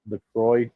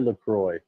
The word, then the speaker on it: LaCroix: So, by the way, according to the website, LaCroix is supposed to be enjoy. It's the rhyme, so you can LaCroix, enjoy LaCroix.